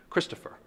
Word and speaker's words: Christopher: say my name aloud Christopher that's a dactyl three syllables the first syllable is emphasized followed by two unstressed syllables and if you want